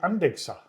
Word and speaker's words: Andechser: they blew me away why do you say andexer that's how you pronounce it apparently andex hell cluster andex yeah